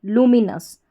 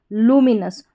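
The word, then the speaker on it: luminous: NOUS यानी कि इसका उच्चारण नस करके हो गया। फिर से देखिए, LU लू, MI मी, NOUS नस। तो पूरी स्पेलिंग हमारी क्या बन जाती है? लूमिनस। लूमिनस।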